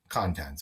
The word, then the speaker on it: contents: bright in these contents contents basically but it's pronounced with the stress on the second syllable at least it was